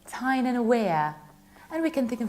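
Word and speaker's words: Tyne and Wear: That's why the county is pronounced like Tyne-and-Wear. And we can think of a sentence, it's so weird in Tyne-and-Wear.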